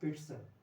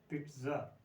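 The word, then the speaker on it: pizza: तो ये है पिट्ज़ा, पिट्ज़ा, पिट्ज़ा या पिट्ज़ा दोनों ठीक है, पर ड या ट का साउंड बीच में बोलना जरूरी होता है। पिट्ज़ा ऐसे ट है एग्जैक्टली, और पीछे स साउंड है, पिट्ज़ा।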